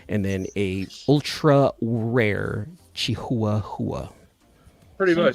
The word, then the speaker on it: Chihuahua: It's the correct pronunciation for this dog is a Chihuahua. A Chihuahua.